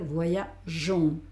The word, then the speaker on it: voyageons: que en este caso le añadimos una E para que ahora lo que va al lado de la G sea el sonido suave de la E y entonces no tengamos problemas de pronunciar. Con lo cual te cambia el sonido y en vez de decir voyagon va a ser voyagon, ¿vale? Sigo haciendo una O, pero no hago go fuerte, sino jon.